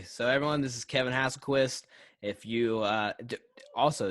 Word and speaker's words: Hasselquist: So everyone, this is Kevin Hasselquist. If you also is that how you say it? Hasselquist? Is that right? Hasselquist? Yeah, yeah.